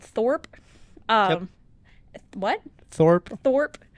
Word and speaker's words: Thorp: this other town called Thorp um what Thorp Thorp uh sounds like Thor I know right is it not it's spelled the same but with a p at the end and there's a restaurant